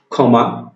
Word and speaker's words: ক্ষমা: তাহলে এখানে দেখি আমরা কি বলেছি, যে শব্দের আদিতে খ রূপে, যেমন আমরা কয়েকটা শব্দ দিয়েছি, ক্ষমা, ক্ষয়, ক্ষীণ। এই যে শব্দগুলো উচ্চারণ করলাম, শব্দগুলো উচ্চারণ করার সময় আমি ক্ষীয়টাকে কিভাবে উচ্চারণ করেছি? খ রূপে উচ্চারণ করেছি।